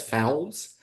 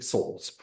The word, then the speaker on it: souls: If you're reading this, it says fowls, long S. 18th century writing, unless it's the last S, it's spelled with an F. So fowls is actually souls.